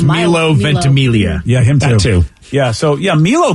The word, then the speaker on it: Ventimiglia: name vicky i thought it was it's milo ventimiglia yeah yeah so yeah milo definitely i mean